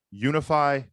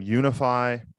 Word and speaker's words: Unifi: that today's episode is brought to you by unify commerce say with me now unify commerce yes guys that is spelled u n i f i commerce dot